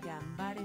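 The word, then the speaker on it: がんばれ: Gambare Mikasa.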